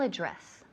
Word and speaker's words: address: So, the email address. The email address. Address. Énfasis en la segunda sílaba.